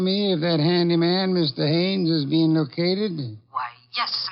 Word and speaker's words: Haines: Haines. H A I N E S. Ah. Oh, Haines.